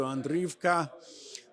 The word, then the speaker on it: Andriyivka: of 2,000 Meters to Andriyivka, the Oscar-winning filmmaker, Mstislav Chernov. Thank you so much for being with us. Thank you for inviting me. You pronounced it really correctly.